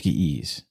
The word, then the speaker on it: Ge'ez: It is the Ge'ez, I think is how they pronounce it. I think it's Ge'ez.